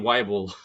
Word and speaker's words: Weibull: to say w w wble but I'm sure there it's more of a v sound uh was the one